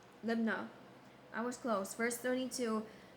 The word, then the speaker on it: Libnah: His mother's name was How to pronounce Emutal, the daughter of Jeremiah of Libaniah. How to pronounce Libnah.